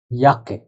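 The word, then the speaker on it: Jacke: এখন আপনাদের মনে প্রশ্ন আসতে পারে যে কে বলা হয় ইয়োট, তার মানে এই শব্দটার উচ্চারণ হওয়া উচিত ছিল ইয়োট আকে, সমন্বিত হওয়ার কথা। কিন্তু একটা জিনিস লক্ষণীয়, সেটা হলো অক্ষরের উচ্চারণ আর শব্দের উচ্চারণ সবসময় সেম নাও হইতে পারে।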